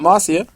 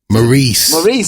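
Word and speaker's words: Maryse: Then Miz's wife comes back, Marcia. Maurice, sorry.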